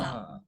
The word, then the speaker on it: bomb: Thumbs Bomb. Wala ding B. You say bomb.